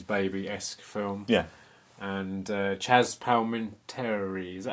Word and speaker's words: Palminteri: And Chaz Palminteri, is that how you pronounce it?